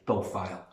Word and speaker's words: hippophile: I googled the horse lover, and as luck would have it, it's a hippophile, which of course rhymes with smiles, and we can't not use that.